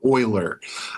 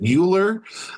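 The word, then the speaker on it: Euler: His name is Leonard Oiler. Uh some people will pronounce it Uler.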